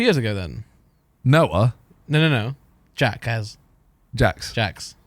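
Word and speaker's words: Jacques: Jax. Jax. It is spelled weirdly. I'll give you Yeah, that. it It's is. GACQUES. Yeah. But it's Jax.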